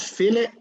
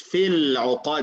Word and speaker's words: في العقد: Not fill it, it's في العقد. لام is silent.